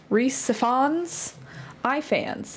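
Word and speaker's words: Rhys Ifans: I say it right Reese spons Ians it's like iPhone but Ians oh that's right we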